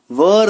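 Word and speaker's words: were: तो चलिए अगर कहीं पे आपको वॉज या वर दिख जाए, देखिए ये वर, इसका प्रोनाउंसिएशन वेयर नहीं करते, है ना, वर, तो वॉज और वर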